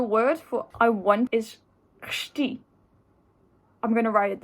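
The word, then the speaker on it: chci: for i want is shti i'm going to write it down here and the first part is the c you pronounce that and i is just i so it's really difficult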